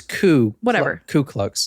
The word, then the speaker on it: Ku Klux: It's just nonsense syllables. Also, like, actually it's Ku Klux.